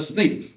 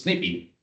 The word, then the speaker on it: SNP: in the following classes a snip oh or as I learn just last week that in Brazil you pronounce snippy and uh that's uh